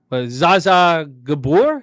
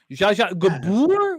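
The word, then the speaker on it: Zsa Zsa Gabor: I don't know what the question was going to be, but I'm going to say Zaza Gabor. Is that how you say it? Jaja or Zaza? Jaja, my bad. Jaja Gabor or Gabor?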